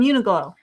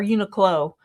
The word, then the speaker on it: Uniqlo: From Uniqlo. Uh, or Uniqlo.